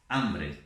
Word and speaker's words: hambre: Escrevemos com H, mas não pronunciamos H.